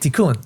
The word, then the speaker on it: tikkun: This is my tikkun. Exactly. How do you? That's how you say it, tikkun.